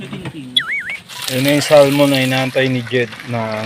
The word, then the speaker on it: salmon: At saka guys, Ang salmon hindi pala to. hindi. Mali pa rin yung aking pronunciation. It's not salmon, it's salmon. Yan. Silent L.